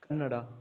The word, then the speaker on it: Kannada: Is it Canada or Canada? I always mess it up. I think it's Canada. I think is that what it is? It's Kannada. Yeah.